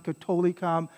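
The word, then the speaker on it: catholicam: catholic and apostolic church all right unam sangtam katolikam and apostolicon so that th is just a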